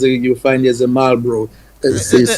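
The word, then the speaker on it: Marlborough: Um, so you'll find there's a you'll find there's a Malro as they pronounce it Malro they say in England.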